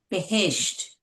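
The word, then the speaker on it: بهشت: And what is the base or what is the correct pronunciation for paradise? Behesht. Behesht. Just the way it is actually spelled.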